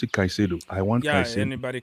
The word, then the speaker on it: Caicedo: Caicedo. Oh, that's how you pronounce it, Caicedo.